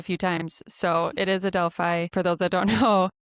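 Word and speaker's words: Adelphi: We apologize that your team name was mis mispronounced quite a few times. So it is Adelfi for those that don't know.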